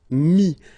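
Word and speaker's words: mis: And then mettre, to put, so e-t-t-r-e, will give you this i-s, mi. Same thing here, final s is not pronounced. Mi, okay.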